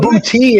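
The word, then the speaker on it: Boutte: Booty is how you pronounce it.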